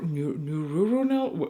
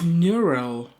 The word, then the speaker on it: neural: a digital neuron neur neuronal wait a second it's neural oh my God I'm so embarrassed because in German it's noron there is like one one thing more but in English it's neural so they try to